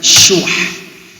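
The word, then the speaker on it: شُحّ: Cara bacanya syuh, pakai ha.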